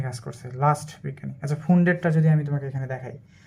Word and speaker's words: Pfund: এবার আরেকটা বিজ্ঞানী দেখব, সেটা হচ্ছে কি ফুন্ড। তো ফুন্ড বানানটা হচ্ছে যে একটু মজার, হ্যাঁ, PFUND, ফুন্ড, এরকম ফুন্ড সিরিজ। AFUND হলে ঠিক ছিল, কিন্তু পি ওনার নামের সামনে একটা আছে।